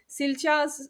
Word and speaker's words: Silja: and they're like, okay, Silja. So because the J is actually silent, it's Silja.